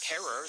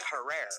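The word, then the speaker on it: Herer: So I knew how he pronounced his own last name. Jack Herrer is here with the book. But I've noticed that most people mispronounce it as Jack Herrer.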